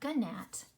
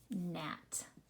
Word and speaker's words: gnat: Which letter is silent? It is the G. It is not gnat. It is gnat.